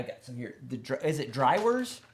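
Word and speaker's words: droëwors: Is it Drywors? How do you pronounce it? Drywors.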